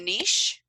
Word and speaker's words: niche: say niche instead of niche. Thank you. Because my niche, French mother, though, would probably not like it. Not have liked it, but niche rhymes with rich.